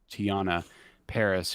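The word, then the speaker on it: Teyonah Parris: to butcher her name i believe it's you pronounce it tian tiana paris who plays monica rambo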